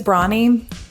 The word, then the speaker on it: Brawny: Does Brawny rhyme with anything besides brownie? Tawny? It's the only thing I could think of, really. Brawn. Like a direct rhyme. It's brawn. So right, it's Brawny.